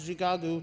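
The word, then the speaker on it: Shikaakwa: of Chicago acknowledges that Chicago formerly known as Chicago pronounced zigagu to the native people sits on the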